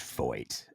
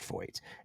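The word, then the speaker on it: Feucht: It's pronounced Foyt. It is pronounced Foyt.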